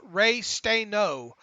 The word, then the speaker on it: Restano: Daryl Restano, pronounced Ray Stano.